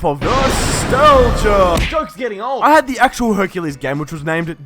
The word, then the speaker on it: Hercules: made me think that Hercules had a silent s in his name pronouncing it Hercule so when talking about him